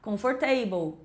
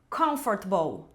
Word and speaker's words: comfortable: O finalzinho é igual table, então vou falar comfortable, vegetable". Mas não, o certo é meio que engolir várias letras dessa dessas duas palavras e pronunciar assim, ó, comfortable, vegetable.